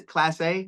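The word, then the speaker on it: Clase: I could look at the Guardians right now and say, hey, is it, Saul, how do you say, Class A? Class A is their closer? Oh, yeah, Class A.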